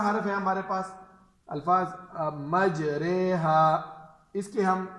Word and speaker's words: مجریہا: بند رکھے۔ دوسرا حرف ہے ہمارے پاس الفاظ مجریہا، اس کے ہم ہجے کریں گے، میم جیم زبر، میم جیم